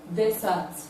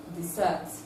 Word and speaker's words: desert: But the one that has the stress on the second syllable is the verb. Let's see the examples we have here. Desert, desert.